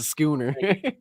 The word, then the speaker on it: schooner: do you say that Sher Sher Sher oh Schooner it's a schooner it's a skooner skoner struck the lady El on side creating